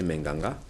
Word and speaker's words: Menganga: À Menganga, dans la région de l'Adamawa, et tout à l'heure, Super Obamla nous faisait esquisser une façon de prononcer Menganga.